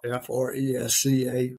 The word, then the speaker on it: Fresca: It's spelled F-R-E-S-C-A, Fresca.